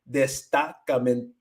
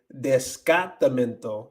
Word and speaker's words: destacamento: Destacamento, because it's like it's really close to a whole bunch of other words. Destacamento. My mouth wants to say descartamento and not destacamento.